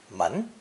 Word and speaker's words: 門: from today's lesson one the character for door or gate is a pictogram of a set of double doors pronounced man a doorway is called manko